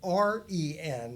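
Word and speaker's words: 仁: word that's now transliterated r e n instead of j e n. It's pronounced ren like r e n would sound.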